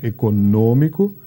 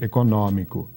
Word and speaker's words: econômico: Então, nós dizemos, por exemplo, econômico, Portugal prefere dizer econômico.